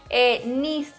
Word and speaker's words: NYZ: la página se llama Nis Moda. La tienda online se llama Nis, N-Y-Z, no con S, como yo lo pronuncio de mal.